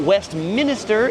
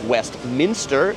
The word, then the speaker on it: Westminster: It's not Westminster, it's Westminster. It's not a minister, it's a minster.